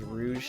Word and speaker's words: Rouge: Pronounces Rouge, not Rouge. When you say Rouge, you should think of a Rouge, just like Rouge.